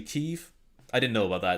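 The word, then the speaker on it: Kyiv: the same with uh kiev is actually chief i didn't know about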